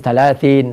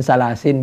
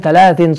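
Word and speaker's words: ثلاث: Orang di situ illa min salasin bisa dibaca shadaqatun jariyatun. Dari mana itu? Ketahuan kalau nggak pernah ngaji itu orang. Illa min thalathin shadaqatin jariyatin aw ilmin yuntafa'u bi aw waladin salihin yad'ulah.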